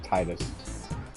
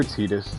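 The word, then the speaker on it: Tidus: a little bit welcome to Zanarkand home of Titus or Titus if you have to go that route correct pronunciation but yeah it it doesn't stick I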